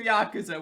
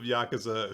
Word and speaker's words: Yakuza: Yakuza Nick this is these are Yakuza we have to say it right you can start an International fight like this a bunch of yakaza who look like gangsters from New York uh and so tras